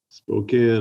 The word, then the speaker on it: Spokane: so is it spokane or spokane spokane is what i know that's kind of what i thought that's what i've always referred to it as but if you look at it it looks like it's spelled spokane so i have another question